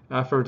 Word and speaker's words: afferent: as afferent or efferents i emphasize uh the a or the e specifically so i don't get confused with my pronunciation afferent and efferent sound very close all right so an afferent emphasizing the a here all right this